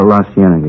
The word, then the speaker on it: La Cienega: Over on, that street out that way, La Cienega. Is that how you say it? Oh, La Cienega, yeah.